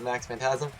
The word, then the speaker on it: Max Phantasm: I've received a lot of hate for my mispronunciation of Max phantasm so I'm gonna I'm gonna gonna fix it